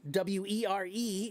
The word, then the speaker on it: were: The one in the middle, wer e, is pronounced were.